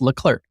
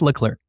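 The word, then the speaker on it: Leclerc: that he said specifically don't forget to pronounce the second C in my name. That's how you pronounce it. And I listened to him say his own name and he says L clerk.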